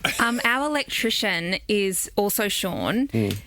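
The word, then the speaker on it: Shaughn: Um, our electrician is also Sean. He is spelled S H A U G H N. S H A U G H N like worn. Like Vaughn.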